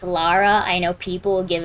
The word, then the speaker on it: Lara: her name is pronounced lara i know people will give a big stink about it if you pronounce it laura i mean fair her name isn't laura it's lara but um [ __